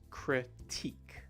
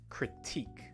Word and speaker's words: critique: pronounce this word is critique critique with the stress on the second sound see how down below